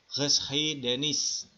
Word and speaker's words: geschiedenis: Ini bacanya gimana? Ya, Geschiedenis.